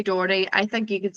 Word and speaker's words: Doherty: In Derry, we say Doherty, and that is, I believe, incorrect. People tend to say Doherty, give it the 3 syllables. We say Doherty.